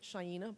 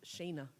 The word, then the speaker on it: Shayna: I kept pronouncing it Shaina, but it was Shayna.